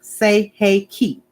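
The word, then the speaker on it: Sei He Ki: And it's pronounced say hey ki.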